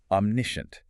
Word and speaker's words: omniscient: Omniscient.